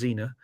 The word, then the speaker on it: Zener: love it uh the the zener is I believe pronounced Xena um but uh yeah